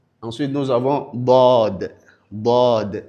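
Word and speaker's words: ض: Dod elle également est une lettre qui est lourde. C'est comme la lettre dalle mais elle est plutôt lourde.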